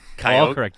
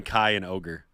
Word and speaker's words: Kyogre: Is it Kyogre? Kyogre? Nigaiwan? it's Kyogre. One of the newer K Y O G R Legendary, yeah. I'm going Ky and ogre.